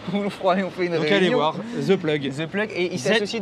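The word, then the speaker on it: Zeplug: The plug the club ça s'écrit Z E P L U G.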